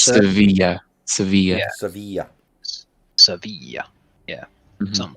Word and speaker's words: Sevilla: But fun fact, in Spanish, two L's right next to each other is pronounced with a Y kind of sound. Yeah, it's Sevilla.